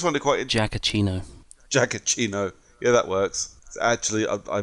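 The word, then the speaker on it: Giacchino: Ino I always wonder quite a jacket Eno jacket chino yeah that works actually I missed it I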